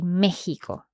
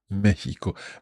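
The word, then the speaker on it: México: say both mhm but the RO says that you should say Mexico Mexico but do we spell it with a G or with an X we spell it with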